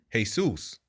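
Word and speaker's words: Jesús: you know since they their J is usually of an H pronunciation right the way they say G Jesus is uh Jesus right so where but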